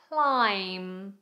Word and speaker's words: climb: Containing a silent B, we have comb. Comb climb.